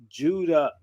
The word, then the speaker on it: Ouidah: this town a judah the people today in this town still pronounce their town in their native tongue as judah so i i have